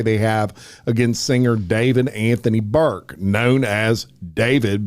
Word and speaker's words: D4vd: Apparently, how his name is pronounced. So we're going to go with David.